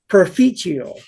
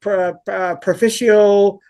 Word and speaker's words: Perficio: So I'm like, okay, because apparently there's some thought about is it perficio, paraficio? Like there's all people are pronouncing it in different ways. So he said perficio, well, the Yeah. Italian, kind of the Italian version.